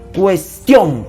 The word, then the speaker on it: cuestión: de voz aquí pues cuestión el acento está en la sílaba tión ya el acento está